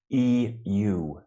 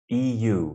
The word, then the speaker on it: EU: Also, EU, the European Union, when you use the acronym, be careful. Just listen how I say it. EU. EU, because you kind of rush to the second syllable and it kind of sounds like you. So it's a bit confusing. Yeah. So you really wanted to say them distinctly.